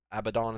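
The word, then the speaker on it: Abadon: Abaddon is how you say it.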